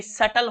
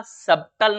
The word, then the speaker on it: subtle: Doubt, doubtful, शटल, जी हाँ, SUBTLE सटल होगा, सबटल नहीं होगा।